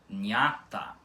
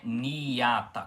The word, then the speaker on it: Nhata: Vocês conseguem perceber aqui que não é niata com o i demorado, é sim nha, nha, nha, nha.